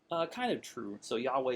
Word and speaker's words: Yahweh: And like I said, we don't know precisely the pronunciation, but we're fairly certain that Yahweh is correct.